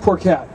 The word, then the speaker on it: Phuket: it like poor oh it's pronounced poor cat but it's spelled I won't say I